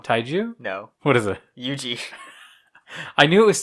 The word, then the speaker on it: Yuji: Taiji? No. Taijo? No. Taiju? No. What is it? Yuji. I knew it was 2 syllables.